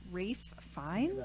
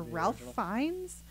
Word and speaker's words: Ralph Fiennes: it has I think his name is pronounced race finds or ralph fiennes he's really he's a